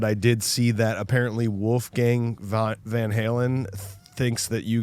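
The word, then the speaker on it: Wolfgang: Wolf Gang.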